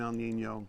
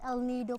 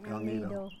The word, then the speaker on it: El Nido: spent a week in El Nino. Actually, it's El Nido, Palawan. El Nido. Yeah. Yeah, I always say it wrong.